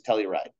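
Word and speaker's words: telluride: but for whatever reason that is the proper way to say torium with a negative2 charge is Telly ride um so just just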